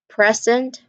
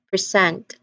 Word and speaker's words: present: So we've identified that when we put the syllable stress on the first, when we put the stress on the first syllable, we identify that particular word as a noun or an adjective. But when we put the stress on the second syllable, we identify that word as a verb, like present, present, record, record.